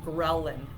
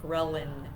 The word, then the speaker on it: ghrelin: of the hunger hormone that you have called ghrelin ghrelin it sounds really funny it's spelled g-h-r-e-l-i-n and that is um a hormone